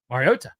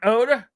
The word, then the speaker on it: Mariota: and Collins's like, "Marcus, how do you say your last name the right way, brother?" And he's like, "Riota." And he's like, "So it's T, it's not Oda."